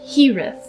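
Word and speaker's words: Hiraeth: I believe it's pronounced Hirith.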